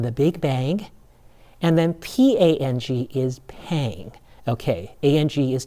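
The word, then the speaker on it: 胖: And then P-A-N-G is not pang, but how is it pronounced? You got it. It's pronounced pang with an ah. Okay, so when you say somebody is fat, you would say that person is pang with an ah vowel.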